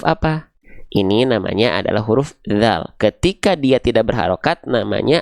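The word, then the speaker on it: ذ: Yang pertama, huruf dzal dilafalkan menjadi huruf dal. Nah, ini keliru ya.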